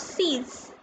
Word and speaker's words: six: Whereas 6 was sees. The spelling is same as in English, but it is pronounced as sees.